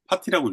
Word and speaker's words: PT: 살사인들은 PT를 파티라고 읽어요.